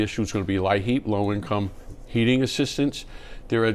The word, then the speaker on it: LIHEAP: Very shortly, the issue is going to be LIHEAP, low-income heating assistance.